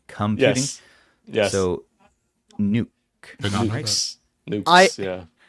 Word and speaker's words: NUC: So Nuke. Nukes. Nukes. Yeah. I say it knock. That is the correct way to say it. It's okay. Yeah, like a Canuck.